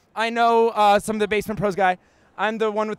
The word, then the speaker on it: BassMint Pros: It's actually BassMint Pros. I know some of the BassMint Pros guy.